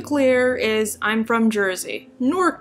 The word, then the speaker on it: Newark: is I'm from Jersey norc to be specific Sheila hits one syllable not two I can tell you're